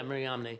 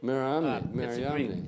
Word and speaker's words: Mariamne: And if you think about M is with your lips and N is with your tongue, it flows real good.